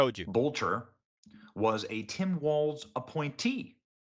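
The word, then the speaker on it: Boelter: Vance Bolcher. Bolcher. I'll say it correctly.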